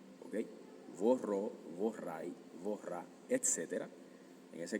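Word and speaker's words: vorrò: En este caso volere va a ser doble r y vas a decir borro, ¿okay? Vorro, vorray, vorrá, etcétera.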